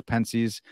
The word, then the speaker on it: Pensées: hexy and um I I pronounce my podcast Parker's penes I I do it intentionally because I don't want to sound like uh you know sound like the middle-aged lady saying gracias at the Spanish restaurant and being just